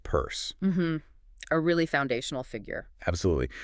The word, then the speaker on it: Peirce: And remember, it's pronounced purse.